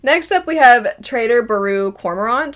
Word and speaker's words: Baru Cormorant: But to my understanding, it's pronounced Trader Baru Cormorant.